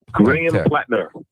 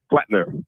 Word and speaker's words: Platner: Graham Platner. Platner. Platner.